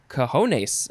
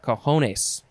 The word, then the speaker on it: cojones: You would say cojones, I guess.